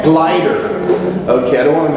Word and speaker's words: Gleiter: First one is, and could you pronounce your last name? Gleiter. Gleiter.